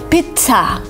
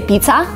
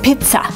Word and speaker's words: pizza: And here, you're kind of pronouncing it like pizza, with a stop, with kind of t, with air coming out of your mouth, pizza. Because some people say pizza, which is not right. You kind of have to stop in the middle of the word and say pizza.